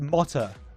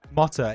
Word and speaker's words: M6R: So I have been informed that M6R is pronounced Motta. Motta is the way that we're going to pronounce it.